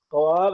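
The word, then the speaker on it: خواب: जैसे ख्वाब हमने ख्वाब में वाव को लिखा है। क्वाब है ये। लेकिन हम पढ़ेंगे ख्वाब।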